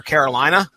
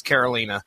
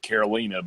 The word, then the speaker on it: Karolina: I went the whole Runaways podcast calling our Carolina but you know I even said watch what happens when Hulu releases and it's Karolina so mispronunciations are are clearly we always read that as Carolina and then her name has been mentioned you